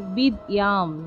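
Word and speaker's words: বিদ্যাং: অনুস্বারের শুদ্ধ সংস্কৃত উচ্চারণ হসন্ত যুক্ত মহলে এর উচ্চারণ হবে বিদ্যাম বিদ্যাম দেহি নমস্তুতে তা শিক্ষার্থীরা এতক্ষণ আমরা ক্লাসে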